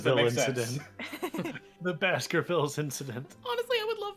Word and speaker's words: Baskervilles: is it Baskerville or Baskervilles? Does anybody know? Baskervilles. I know it says that, but... Oh. Is the S silent? I don't know. I'm pretty sure you pronounce the S because it's not French.